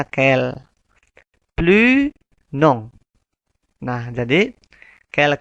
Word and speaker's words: quel: Sama, semuanya itu sama dibacanya kel.